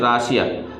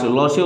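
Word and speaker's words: 러시아: এরপরে খেয়াল করে দেখুন রশিয়া সারাম ইমনিকা, রশিয়া হচ্ছে রাশিয়া, কোরিয়ানটা কিন্তু রশিয়া উচ্চারণ, লসিয়া উচ্চারণ, লসিয়া সারাম ইমনিকা, আপনি কি রাশিয়ান অধিবাসী বা রাশিয়ান লোক।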